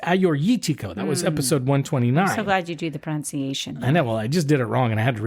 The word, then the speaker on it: Assyrtiko: It looks like Assyrtiko, but it's Assyrtiko.